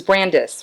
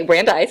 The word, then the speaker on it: Brandeis: So she, did you meet her at, it was Brandis, right? Right. You we went, met at Brandeis. Okay. Our freshman Brandeis, year. I pronounced it. Yeah. Sorry guys, I pronounced it incorrectly. Okay, Brandeis, all right.